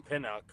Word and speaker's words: Pinnock: A guy that I don't know if ChatGPT brought up, but played for Robert Saleh is Jason Pinnock.